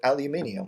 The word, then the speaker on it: aluminium: You know how the British pronounce it aluminium, right? Let's go to the garage and get some aluminium. So I used to make fun of them about that. But it turns out if you look on a periodic table of elements, the original Latin spelling is actually with the extra I, aluminium, right? And us Americans really butchered it and call it aluminum, right?